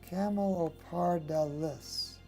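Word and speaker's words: Camelopardalis: chamolo parda lis camo it's dallas not dillis camel or par dallas okay so there you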